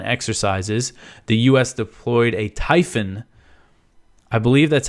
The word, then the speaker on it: Typhon: y p ho n it looks like it should be typhoon but there's only one o so I'm going to say Typhon uh it's a Typhon